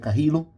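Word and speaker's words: Carrillo: e tem que pegar aprender a pronúncia que eu achava que era carid aí na transmissão T falando que é carrilo então vamos ver aqui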